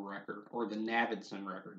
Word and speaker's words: Navidson: a film entitled The Navidson Record, or The Navidson Record. You think it's Navidson, but I think it's actually pronounced Navidson.